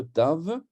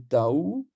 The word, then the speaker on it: Tav: de l'alphabet hébreu alors cette lettre Tave peut se prononcer Tao avec un W ou avec un V et en phénicien Tao